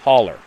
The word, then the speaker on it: hollow: mountain in the next Hollow pronounced hauler for the non-southerns and sounded like he